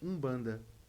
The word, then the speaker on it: Umbanda: U bbanda, só que ele vem de uma palavra de uma nação banto, cujas palavras têm um m, que é mudo no início da palavra, mas se lê com u. Então, Umbanda vem, na verdade, dessa